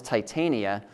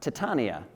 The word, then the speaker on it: Titania: So this, for the longest time, I was calling this Titania, but our school did a play, Midsummer Night's Dream, and I found out that it's actually pronounced Titania.